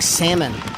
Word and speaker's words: salmon: It's like salmon. You don't pronounce the L.